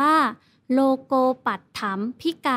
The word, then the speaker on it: โลโกปัตถัมภิกา: ไป คือ โลโกปัตถัมภิกา เมตตา อ่าน ว่า โลโกปัตถัมภิกา อาร์ม eight ตา แปล